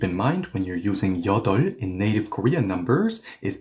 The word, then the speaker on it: 여덟: mind when you're using yeodeol in native Korean numbers is that the b here is silent. So, do not say yeodeolp or yeodeolp. Say yeodeol as if the b is not there at all.